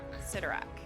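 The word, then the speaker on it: Cyttorak: strange uh crimson bands of center rack citarach sidorak is that how you say it yep so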